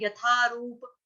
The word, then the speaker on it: यथा: हम पढ़ रहे हैं यथारूप यथा ठीक है यह थरमस वाला द उसके साथ है ए का ए की